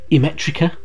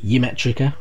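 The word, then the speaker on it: Ymetrica: haitian uh you'd also get things like uh emetrica as instead of yemetrica was i've heard people pronounce it before and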